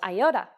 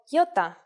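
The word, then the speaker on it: ιώτα: This is a vowel that you may have heard called iota. In Greek, though, it is called iota, and it makes the sound E.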